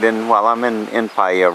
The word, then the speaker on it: Paihia: You're looking at a fountain just across from the main commercial district in Paihia, and that shows you how it's spelled, P-A-I-H-I-A.